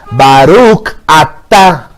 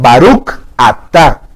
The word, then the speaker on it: Baruch atá: El sefardí marca mucha distinción. El sefardí es el judío que viene de España. Marca esa distinción. Baruch atá. ¿Por qué? Porque las personas cuando no pronuncian bien el hebreo y dicen las bendiciones, dicen Baruch atá. Baruch atá. Y ahí que están diciendo, bendito pecado.